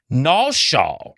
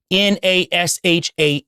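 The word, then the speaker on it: נשא: Nasha, which is n a s h a h, completely different phonetically and distinct from NASA in the Hebrew, that means to deceive or deception, and you'll find that in Jeremiah 49:16.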